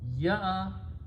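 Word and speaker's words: يأتي: Ya'atiyo will be written as alif will be written with the ya, and hamza will have a sukoon. So pronounce ya, don't pronounce ya. Ya'atiyu.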